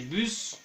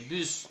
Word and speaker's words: bus: Il y a des exceptions, bien, on va prononcer les bus, que pronunciamos la S final, les bus, el bus, los, el